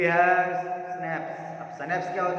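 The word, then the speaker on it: Schnapps: उन्होंने बोला हमारे पास सनैप्स है, ठीक है, उसको सनैप्स पढ़ते हैं अपन, इसका प्रोनाउंसिएशन होता है सनैप्स, SCHNAPPA सनैप्स।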